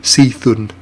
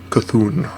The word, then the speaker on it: Cthulhu: So many pronunciations. Cthulhu, Cthulhu, I believe is the way that's pronounced.